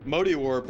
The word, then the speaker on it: Mode Warp: It's actually spelled Mode Warp, but for whatever reason they pronounce it Modi Warp.